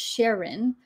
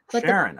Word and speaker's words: Charon: movie that um it makes sense so it's pronounced Sharon Sharon okay that's not the way it's I mean